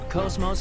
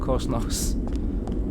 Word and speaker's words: Cosmos: In Xenoblade Chronicles 2, they pronounce the O in Cosmos with a short vowel sound.